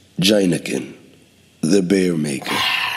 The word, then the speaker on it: Heineken: Heineken, pronounced Jineken, the bear maker.